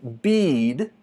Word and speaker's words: bead: Mas, quando eu falo bead, que é quase idêntico, bead, vê que o som, o tempo que leva para eu pronunciar esse som é mais comprido. Por isso chamamos de longo.